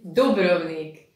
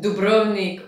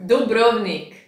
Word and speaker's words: Dubrovnik: And for when you come to Croatia, the name of the city is Dubrovnik. Do not pronounce it Dubrovnik or Dubrovnik or whatever else. Remember, Dubrovnik.